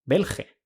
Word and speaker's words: Belgae: Y si AE se lee E, entonces la G de "Belgae" no se pronuncia como la G de gato, sino como la de genio, bel ge.